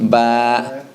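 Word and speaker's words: ب: So ba. Ba, Fatha, Ba, Okay. And no H sound. No H sound at the end.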